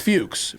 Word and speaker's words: Fuchs: Yeah, but it's I've been told it's pronounced Fuchs. It's pronounced Fuchs, but it's but it's like Fox.